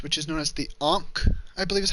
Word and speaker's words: ankh: the Egyptian cross, which is known as the Ankh, I believe is how they pronounce it. Spelled Ankh. I believe they pronounce it Ankh, which is a weird pronunciation, but it is what it is.